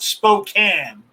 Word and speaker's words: Spokane: the state says bushwacker it's pronounced spokane like pecan spokane washington yeah you